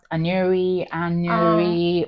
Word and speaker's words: Anuri: It's actually pronounced Anuri, which I don't expect people to, and that's fine. But like people. Anuri, but it's Anuri. So just imagine a hyphen between the N and the U.